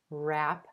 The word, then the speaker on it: wrap: wrap up wrap up notice that the w at the beginning of this word is totally silent the first sound you hear is the r consonant rap wrap up then the